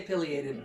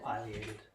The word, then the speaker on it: Pileated: they do pronunciation but Pileated Pileated I have no idea I've only ever seen it in writing I say Pileated but uh a lot of people like bird people say Pileated so it is just